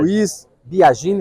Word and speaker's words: Luiz Biagini: Luiz Biagini, está correta a pronúncia?